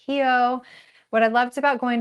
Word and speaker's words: Rio: loved about going to we call it Rio. It's actually pronounced Hio.